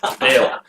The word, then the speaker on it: Val: So we'll say either way of the pronunciation works. Vale. Vale or Val. Vale. It was revealed. Locals say Vale.